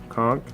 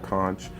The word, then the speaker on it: conch: I also picked up a fighting konk konk or conch I come from the Caribbean Solis say a conch but there's a conch for whoever pronounces it that way so there's your conch